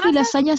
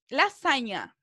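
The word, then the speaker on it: lasanha: el queso supervía la lasaña se pronuncia igual igual lasaña recuerden que la nh cierto se pronuncia como nuestra ñ entonces en algunas palabras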